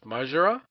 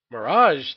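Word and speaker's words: Maraj: I know I'm probably pronouncing this wrong, which is Majra? Majra? Dwayne? Mirage? Mirage, thank you.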